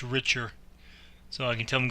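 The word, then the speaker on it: RICHR: it's Richard shoot meant to look that one richer and that's it it's uh under the P if you go straight down there's a star on that line is RI CH r so it's pronounced richer so I can tell them go direct which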